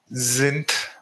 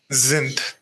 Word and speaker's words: sind: Wir sind. Whenever you are getting ND combination, the sound would be like th, sind. And S should be pronounced like Z if vowel is following sind.